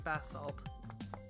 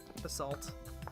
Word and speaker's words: basalt: Especially since I do like the color of the bass salt. Basalt. I keep calling it bassalt.